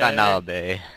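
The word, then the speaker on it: Donaldi: Nalde. Nalde. You said it wrong. Nalde. Danalde. And we also nicknamed him Danalde. it's not even a nickname. That's actually how my parents pronounce it. Danalde. So when you come on the server, be sure to tell LG he's Nalde. It's Danalde. D-O-N-A-L-D-I. Danalde.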